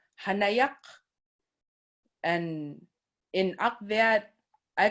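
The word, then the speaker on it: hanayaq: hanaya h a n a y a q hanayak and in akvat i call up that like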